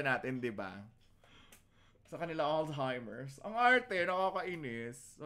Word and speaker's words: Alzheimer's: Mali lang ang pronunciation, pero tama. Tama naman ang sagot ng aking anak. Alzheimer's. Dapat. Alzheimer's.